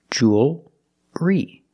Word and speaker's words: jewelry: So the first sound jewel plus re together jewelry. And what about the L? Does it change? No, it doesn't change. It's still a dark L because you have the L before a consonant.